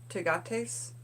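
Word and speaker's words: Tagetes: African marigold it's spelled ta g ET es that's the first word - got ace targets - got ace and the second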